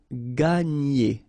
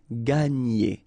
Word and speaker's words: gagner: Okay, and then when you've got this G and N, you get the sound n, okay, and e. So gagner, gagner, gagner.